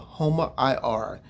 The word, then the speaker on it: HOMA-IR: And the name of this fasting insulin test is called Homar IR, and that's spelled HOMA-IR.